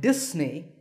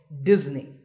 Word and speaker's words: Disney: you say this word if you said Disney that's the mistake the s in the middle is actually a sound as you can see in the pronunciation symbols on the screen so it's Disney remember that number five